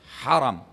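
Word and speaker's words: حرم: Ha ra mim dibaca langsung ya. Bagaimana bacanya? Haram. Haram. Jangan Anda bilang haram. Karena kalau ditambah alif ha ra alif mim berarti dilarang. Haram hukumnya gitu kan. Haram. Kalau ini wilayah haram. Bedanya hanya hilang alifnya saja.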